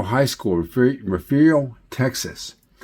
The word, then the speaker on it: Refugio: Down below, these are the arch windows that came out of Refugio High School, Refugio, Texas. And that's spelled like totally different than it sounds.